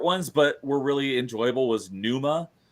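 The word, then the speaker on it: Pneuma: but really enjoyable was Numa uh like p n u m oh like pneumonia Numa yeah it's like a silent P um that was a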